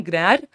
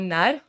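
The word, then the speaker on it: Gnarr: जिसके फाउंडर हैं जॉन ग्रैर। जी साइलेंट रखेंगे तो जॉन नैर और ये जो है एक कॉमेडियन थे।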